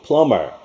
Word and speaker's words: plumber: 공사하는 그 수리공을 보통 plumber, B가 묵음돼서 plumber이라고도 부릅니다. B는 묵음입니다.